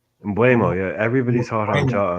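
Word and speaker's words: Mbeumo: Mbuemo, yeah.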